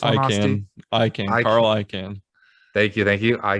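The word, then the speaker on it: Icahn: was the former ceo of how do you pronounce this i can i can carl i can thank you thank you i can't automotive group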